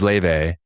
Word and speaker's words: Laufey: The Icelandic singer's name is Laufey.